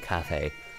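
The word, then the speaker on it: Kafei: I've always pronounced it Keifi, so I'm still getting used to calling him Cafe.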